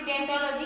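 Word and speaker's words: ओडोंटोलॉजी: तो ये भी आप ध्यान में रखना कि डेंटोलॉजी किसे कहते हैं। ये ओडेंटो, ओ है ना, ये इसमें साइलेंट रहेगा और बाकी आपको ये वर्ड बोलना है डेंटोलॉजी।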